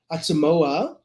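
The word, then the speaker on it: Autshumao: three of the the well-known koi u translators that Yanibbe used Atsumoa that's how you pronounce it Duman and the little girl that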